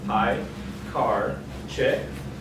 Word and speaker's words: Piekarczyk: My name is Piekarczyk, it's pronounced Piekarczyk, and today, as you already know, I'll be professing my love to ReasonML.